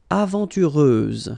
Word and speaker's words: aventureuse: Aventureuse, final S, not pronounced.